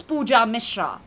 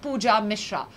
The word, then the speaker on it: Pooja Mishra: band trolling band cloning my name is easy and simple it's puja mishra like i said not any of those which i said earlier but pooja mishra so zoom in your